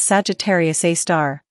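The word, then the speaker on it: Sagittarius A*: black hole is called Sagittarius A asterisk pronounced as Sagittarius A star it is located in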